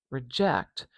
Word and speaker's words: reject: So for reject, reject, even though the vowel is naturally very short, the stress is on the end of this word.